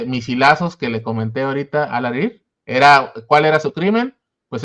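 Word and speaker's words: Alareer: ¿Cómo se pronuncia? ¿Rafat Al-Arer? Al-Arir. ¿Al-Arir? Uh-huh. Bueno, pues asesinado en uno de estos misilazos que le comenté ahorita, Al-Arir.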